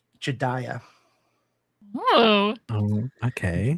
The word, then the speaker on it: Jedediah: Jedediah. Oh. Oh, okay. Right? This is how you say Jeddidiah. Jedediah. Jedediah. That is Jedediah.